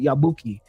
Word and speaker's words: Yabuki: I said it wrong the first time, but now I have it. Yabuki.